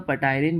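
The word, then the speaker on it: ptyalin: टाइलिन भी बोलते हैं यह जो पी है यह साइलेंट होता है इसलिए इसको सिर्फ टाइलिन पढ़ा जाता है लेकिन स्पेलिंग के साथ पी भी है तो आप चाहो तो पटाइन बोलो ताकि एग्जाम में हम कभी भूले ना इट कन्वर्ट्स स्टार्च इनटू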